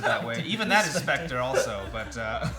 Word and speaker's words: Spectre: Spectra? Spectra Is is- that James Bond movie? I think it's adorable that you pronounce it that way. Even that is Spectre also, but it's okay.